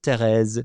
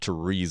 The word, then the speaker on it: Thérèse: Or, if you want to pronounce it correctly in French, Sainte Thérèse de l'Enfant Jésus, Thérèse de Lisieux. That's how you pronounce it, not Therese of Lisieux.